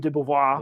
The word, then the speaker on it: de Beauvoir: Gloria Steinem, Simone de Beauvoir.